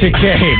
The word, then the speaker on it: Takei: Takei. My apologies. Rhymes with gay, George Takei.